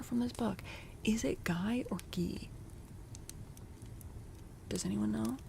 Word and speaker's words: Guy: I'm pretty sure he's Guy of Gizbborne, even though you're correct that the name originally comes from French and would pronounce Gee.